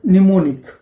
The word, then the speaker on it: mnemonic: मग तिथे काय केलं, या प्रोग्राममध्ये ॲड, मूव, INC किंवा एंड हे जे दिलेले आहेत ना, याला म्हणतात निमोनिक. काय म्हणतात, निमोनिकचं स्पेलिंग बघा, MNEMONIC, निमोनिक.